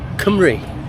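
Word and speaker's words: Cymru: Kumri. Kumi. Kumri. Yes. So the U is an E.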